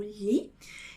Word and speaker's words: gli: Botilha, como a gente já viu, então temos o glá, o gli, que seria, não é? Agora nós temos ali, que é o li, tá? Não é pronunciado como gli, mas como li.